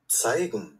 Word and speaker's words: zeigen: দেখেন উচ্চারণ কেমনে বলে, Zeigen, শুনছেন?